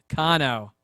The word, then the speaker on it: Cano: right we are back ava cano i think i said it right that time maybe we're gonna find out about two seconds kano kano she's correcting me as i speak in my ear that's